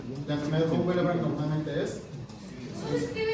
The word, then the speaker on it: von Willebrand: Las hemofilias normalmente son intrínsecas y la enfermedad de von Willebrand normalmente es ¿Cómo se escribe esa enfermedad? von Willebrand. B y enfermedad de Von Willebrand. Von como si fuera holandés.